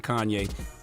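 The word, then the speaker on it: Khanye: man was 20 years old his name was Kanye but it's spelled k h a n ye e he's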